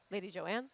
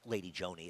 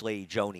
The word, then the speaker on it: Lady Joanne: the hook Sarah uh it's lady Joni even though it's spelled Joanne I I understand why